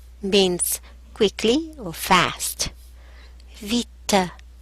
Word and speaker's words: vite: Vite means quickly or fast. Vite. The E at the end is mute. Vite. Now, let's look at some actions.